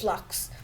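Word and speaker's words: f.lux: like here so don't worry this is just flux and you could and it's spelled dot f dot lux but it's pronounced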